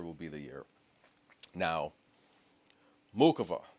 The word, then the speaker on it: Muchova: Now, Muchova. Yes, we pronounce the C's, guys.